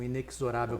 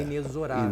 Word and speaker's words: inexorável: Como, por exemplo, acontece com inexorável, que todo mundo fala errado e é inexorável. Inexorável, pois é. E todo mundo fala inexorável, mas lá no dicionário está o Zezinho Está ali lá mostrando a pronúncia.